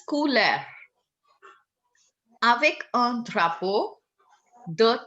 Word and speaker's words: couleur: Now, how it is pronounced? Couleur. It's couleur.